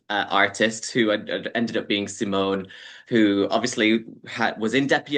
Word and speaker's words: Simón: I don't even know how you're really meant to Simon, pronounce it. yeah. Simon, yeah, that's it.